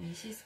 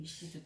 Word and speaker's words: ISIDE: 그부터 이시드 이시드 어, 이시드 예. 어, 이시스 백이 아니고 이시드 백. 그렇죠. 원래 이제 철자는 ISIDE 백이에요. 근데 이제 요게 이제 우리나라에서 어 글쎄요. 이시스라고 발음을 하시더라고요.